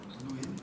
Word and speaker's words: Nguyen: Nguyen. That's right, right? It's and the G is silent, no? I mean, it's like Nguyen, right?